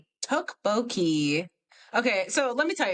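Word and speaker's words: tteokbokki: How the do you pronounce it? Hold on. Oh, let's see. Tukboki.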